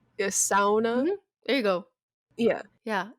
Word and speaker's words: sauna: to them but i'd just be like it's sauna it sounds um i would just say it